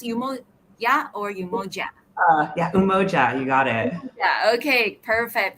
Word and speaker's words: Umoja: here and they are from yumo should I pronounce yo or yoa yeah umoja you got it okay perfect thank you we